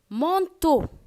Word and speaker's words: manteau: Manteau, M-A-N-T-E-A-U, manteau.